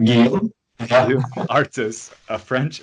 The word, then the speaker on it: Guillaume: Guillaume.